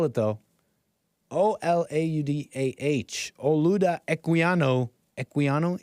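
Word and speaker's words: Olaudah: uh portraits of the man that's how you spell it though o-l-a-u-d-a-h o Luda equiano equiano e q u i n is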